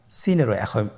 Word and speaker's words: সিন: জিহ্বার আগা সামনের নিচের দুই দাঁতের প্যাড ও আগার সঙ্গে লাগিয়ে উচ্চারিত হয়। জায়ের মতোই, জায়ের যে মাখরাজ সিনেরও একই মাখরাজ। আপনারা সিন হরফটি আবার উচ্চারণ করুন, সিন, আবার উচ্চারণ করুন, সিন।